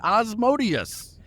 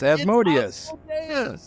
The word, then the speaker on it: Asmodeus: guarantee you I have you spent this entire podcast saying osmodius that's how that's how it is pronounced it's asmodus it's asmodus specifically is it is as